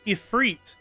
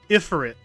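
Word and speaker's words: Ifrit: Well, you know, it's hard to break uh 20 plus years of habit in Final Fantasy games because it's not it's it's ephreit, not Iferit.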